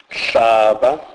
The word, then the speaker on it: hlaba: HL is pronounced as it has no equivalent in English. E.g., hlaba, hlaba, which means step.